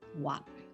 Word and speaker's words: は: Ha, it's written, but the pronunciation, when it works as a particle, it's called wa.